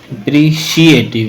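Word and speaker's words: appreciative: he become he become अप्रिशिएटिव ये CEAT है लेकिन जब पढ़ेंगे तो शी की बाज देता है ये ठीक है इसको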